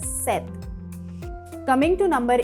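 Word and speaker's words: sept: S-E-P-T, and we say it as set.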